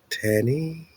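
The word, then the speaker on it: תנין: Tannin, Tannin, pronounced tannin, which seems to cover a broad range of reptilian creatures.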